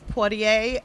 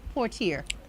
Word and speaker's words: Poitier: You would say Portier. It's pronounced different ways. Okay. It's still spelled the same, but different people pronounce it.